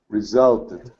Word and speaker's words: resulted: we pronounce this anyone resulted yes have a it sound yeah it's a ed sound because it has this T right here yeah so so this one would be resulted where this this one